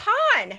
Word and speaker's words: Han: the right pronunciation aleena it's Han he introduces himself as Han and it's Tatooine because the people who live there say I live on Tatooine all of it al